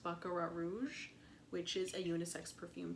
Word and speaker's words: Baccarat Rouge: And people say it's a dupe for, I believe it's pronounced Baccarat Rouge, which is a unisex perfume, so makes sense.